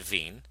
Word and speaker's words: Wien: this was noticed by a German scientist named vigne his name is spelled wi e in that we pronounce it vigne and what he noticed is that the wavelengths